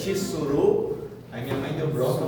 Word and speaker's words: tsuru: O nome desse pássaro é tsur que pronuncia tsuru.